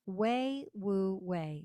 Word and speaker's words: Wei Wu Wei: So one of the last teachings I want to touch upon today is one of Taoism's key principles, and that's called Wei Wu Wei. It's spelled Weiwuwei, Wei Wu Wei.